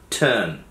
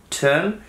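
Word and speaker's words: turn: তো টার্ন একটা ভার্ব, এর উচ্চারণটা মনে রাখতে হবে এটা কিন্তু টার্ন না, টার্ন, টি ইউ আর এন, টার্ন। এই যে আরটা আছে এখানে, এই আর এর উচ্চারণটা আপনি হয়তো করবেন 20%, নট টার্ন, আপনার একদম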